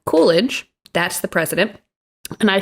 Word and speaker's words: Coolidge: mispronounced his name um i kept going back and forth between saying calvin coolidge and calvin coleridge the correct way to say it is calvin coolidge that's the president and